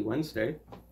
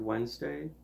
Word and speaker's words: Wednesday: Happy Wednesday. I did just want to point out real quick that if we said the word Wednesday the way it's spelled, we would sound really weird and stupid. Wednesday?